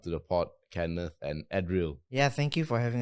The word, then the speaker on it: Eddryll: So it's Eddryll." Like chlorophyll, but double D, double L.